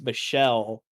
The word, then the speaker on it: Michel: were talking about uh m-i-c-h-e-l's pronounced Michelle and that actually got